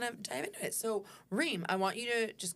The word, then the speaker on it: Reem: Um I'm a I'm You guys you guys say my name, Reem, right? Correctly. A a of people they just like "Rem, rem, rem, rem."